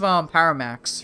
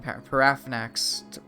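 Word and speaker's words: Paarthurnax: Well, see, like think of Paramax, right? That's not how you pronounce his name. Parafnax.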